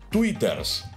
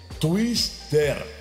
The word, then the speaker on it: Twister: Porque dijiste bien en el nombre, pero lo pronunciaste mal. O sea, no es Twitters, es Twister.